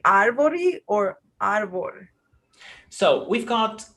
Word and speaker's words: árvore: In this case, when I have this situation where you have R and another consonant, where I come from, we do the aspiration.